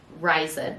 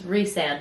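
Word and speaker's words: Rhysand: his full name like something calls him ryzen and I was like that's wrong that's how I pronounced it because I don't do audit like the audiobooks yes either but then we looked it up I watched a YouTube video on how to pronounce all of them there's one that I watched that Sarah did where it's pronouncing all of them but she says it's re-sand or Reese that I want just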